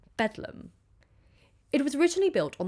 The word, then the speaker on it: Bedlam: as Bethlehem hospital but londoners lately abbreviated this term to bethleem and then it was later pronounced beum it was originally built